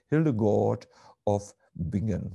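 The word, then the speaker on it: Hildegard von Bingen: have read her literature hildegard fonbingen or pronounced an american english word hildegard of began something like this she expressed very poignantly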